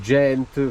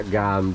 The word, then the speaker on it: Gand: Quindi ragazzi, parcheggio di Gand o Gent, forse gente in belga, Gand è la nostra pronuncia in italiano.